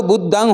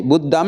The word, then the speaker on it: बुद्धं: शरणं कहा तो बुद्धं होना चाहिए, बुद्धम नहीं, बुद्धं नहीं, मुँह का उच्चारण नहीं, हाँ टिम्ब का उच्चारण करना है।